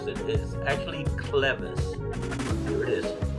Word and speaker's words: clevis: we did um without them and we used cleavage all right it turns out that i was